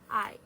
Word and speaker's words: hai: Hai.